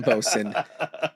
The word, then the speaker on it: boatswain: His name wasn't William Bosun. His title is bosun. But no, I exactly know. It's spelled boatswain, but I heard it during so many, but it's bosun.